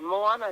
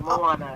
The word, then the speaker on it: Moana: Moana is how you say my name, Moana. Oh, It's wonderful Moana. to be here. Oh, well, Yes, like the Disney movie Moana.